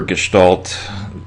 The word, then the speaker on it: gestalt: of art and design i remember gestalt and listen to the way i'm pronouncing it's german for form typically you'll hear this